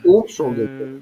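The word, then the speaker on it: אומשולדיקע: Умшулдеке. Имшульдике. Умшулдеке. То есть тут ударение на первое.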